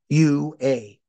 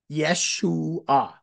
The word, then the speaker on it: Yeshua: But the J was taken originally from the German spelling, and J in German is pronounced like a Y. So this is the original spelling starts with a Y. It's Yeshua. Yeshua.